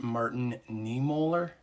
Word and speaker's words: Martin Niemöller: I think it's pronounced Martin Niemöller is the man's name.